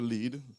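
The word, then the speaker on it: lede: L-E-D-E, it's pronounced lead.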